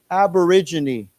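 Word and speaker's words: aborigine: native Native Native Native aborigin aborig now we pronounce this letter here AB aborig this is a g j sound J okay so let's say it again aborigin aborigin yeah so those are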